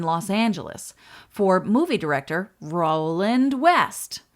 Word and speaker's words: Roland: Angeles for movie director Roland West, whose name is pronounced Roland, not Roland. So he named the ship for his wife, who is an actress, and her name was Jewel.